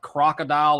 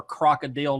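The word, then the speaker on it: krokodil: up this thing called crocodile or crocodile depending on how you it's spelled with a k it's like gasoline and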